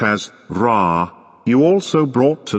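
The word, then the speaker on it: ر: This one, which is pronounced as Ra, you also brought to 9.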